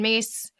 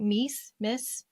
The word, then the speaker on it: Myss: And you may have read this, Anatomy of the Spirit by Carolyn Myss. Am I pronouncing that right? Miss? I always thought it was Mies.